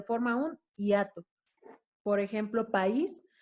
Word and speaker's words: país: un hiato por ejemplo país se está colocando el acento en la vocal débil como podemos ver en la pantalla entonces hace que esta palabra sea dos sílabas actúa también lleva el